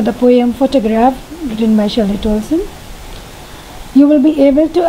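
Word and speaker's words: Shirley Toulson: to pronounce, so let us see the correct pronunciation. Shirley Tulson. I hope it's clear. Shirley Tulson. Once more? Shirley Tulson.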